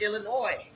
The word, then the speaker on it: Illinois: so annoyed when we call it illinois yes is silent what you got it's illinois that it looks to me like some some